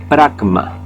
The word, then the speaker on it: pragma: La palabra pragmatismo proviene del griego pragma. Ahí está en griego, para pronunciarlo en español, ahí está, pragma, P-R-A-G-M-A, pragma, que significa acción.